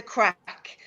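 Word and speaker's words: craic: Now, remember, on Patrick's Day, Irish people have the crack. Now, the crack means a very different thing, and it's spelled C-R-A-I-C.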